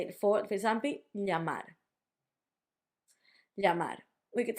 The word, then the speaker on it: llamar: you want to say, I think the easiest way for English speakers is normally to say it as a y. So llamar, llamar, llamar, llamar, all with the same sound / letter.